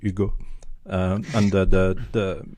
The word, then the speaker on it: Hugo: you said yod first one no no I pronounce it correctly Ugo um and the the the the thing is